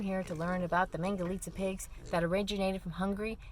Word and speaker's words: Mangalitsa: Mangalita rhymes with pizza.